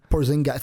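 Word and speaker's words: Porzingis: Porzing God. Thank you for saying it right. By the way, everyone keeps saying that wrong. It's like they put a giss at the end. It's porzing. Porzing.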